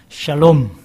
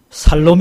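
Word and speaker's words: שלום: 100 분들하고 인사문 하겠읍니다 샬롬 샬롬 샬롬 샬롬 발음을 잘 해야 되요 이거 잘못하면 살롬 이 아니라 죽일 놈이 된다고 예 그래서 샬롬 이라는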